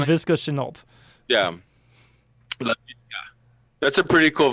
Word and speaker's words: Laviska Shenault: They have this other kid, and correct me if I say his name wrong, Laviska Shenault. Shenault, you got right. I think that's how you say his name. Laviska Shenault.